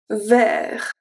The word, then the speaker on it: vert: And the last one, vert. Vert. So the E in vert is also pronounced as a E because we have the R and we have the T after.